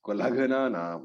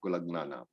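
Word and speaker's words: कुलघ्नानाम्: So when you pronounce, be very careful. It is Kulaghana Nam, not Kulagna Nam.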